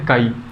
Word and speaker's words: chi: इसका जो प्रोनाउंसिएशन है वो है काई। Right, CHI। ठीक है, बट हम इसको इन जनरल क्या बोलते हैं, इन जनरल हम इसको बोलते हैं एक्स। ठीक है, तो mole fraction is denoted by एक्स। तो मोल फ्रैक्शन को हम किससे डिनोट करते हैं, एक्स से डिनोट करते हैं, जबकि इसका रियल में प्रोनाउंसिएशन क्या है, काई है।